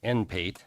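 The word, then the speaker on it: NPAIT: Number two, adopt the enabling resolution to become a participant in the Nebraska Public Agency Investment Trust or pronounced NPATE and authorize the mayor to sign application documents.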